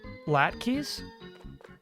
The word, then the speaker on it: latkes: Pronounced by, like, Latka. Okay, okay, okay. Like the EH without the, as much. Latkas.